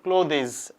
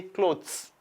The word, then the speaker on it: clothes: people's kindly note here we don't pronounce this word closes I've had I've had a good number of you or pronouncing this word as claudi's we don't have Clos this you say clothes repeat after me say